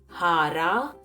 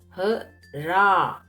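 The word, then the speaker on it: हरा: Observe that it is not hara, it is hara. Hara.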